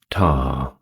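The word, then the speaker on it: Ptah: Next up, we have Tar. That is spelled P A H.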